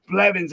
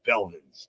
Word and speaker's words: Blevins: Blevins. I actually said it right today instead of Belvins.